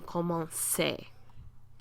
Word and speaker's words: commençait: But then when we get to the il form, we have to put it back, because a C before an A is a hard C sound. So, il commençait.